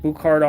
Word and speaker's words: Buchardt: the speakers we're going to be looking at botard audio that's how to how it's pronounced not in this color though I really